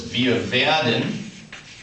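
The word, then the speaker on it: wir: VI we will is VI don't forget that a w is pronounced like an English V on Z on Z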